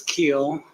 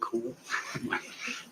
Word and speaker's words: Keel: Is it Keel or Cool? It's Keel. My children like to say Cool.